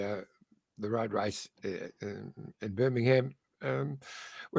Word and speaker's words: Birmingham: away and said it's birmingham apparently we don't pronounce the ham so yeah yeah and